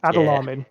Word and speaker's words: Adalamin: Yeah, think Aladdin, and you're quite close, right? Yeah. Okay. Adalamin.